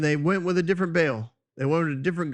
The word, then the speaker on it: Baal: So when you see the word baal, it's b a e l. Some people will do that as uh two syllables be al and then usually the